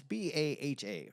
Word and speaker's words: Baja: It's Baha. How do you Baja? Baja or is it Baja?